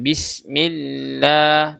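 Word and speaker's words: بسم الله: La lanya juga dibaca jelas ya, jangan lo. Jangan seperti O. Bismillah. Apalagi dibaca tebal, bacanya tipis. Bismillah hirrahman.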